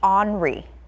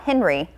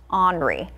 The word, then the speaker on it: Henri: This is going to be Henri. So not Henry, Henri.